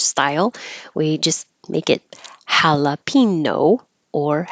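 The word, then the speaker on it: jalapeño: we just make it jalapeno or jalapeno with a Y before the O as in what you might see on a menu jalapeno poppers misogynist misogynist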